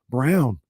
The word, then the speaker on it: Braun: up in this postseason the man's name is Christian Brown mm-hmm it looks like Braun yeah let's get uh